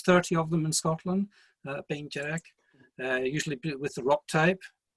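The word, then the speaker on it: Beinn Dearg: Bain Jedek, I'll just give you our pronunciation so you hear the slight differences perhaps from your own.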